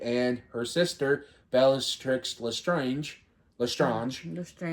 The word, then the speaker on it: Lestrange: Lestrange. They pronounce it Lestrange in the books, or in the audiobook, so. Well, it is a French name.